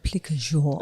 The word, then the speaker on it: plique à jour: Plique à jour. We're going back to Paris and Paul. Paul, would you like to pronounce that in the proper Parisian way?